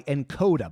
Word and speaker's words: Nkoda: This episode is brought to you by Encoda. By the way, that's spelled Nkoda.